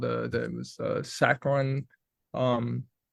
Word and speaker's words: saccharine: So instead he called it saccharine to rhyme with wine so as to be differentiated from the artificial sweetener.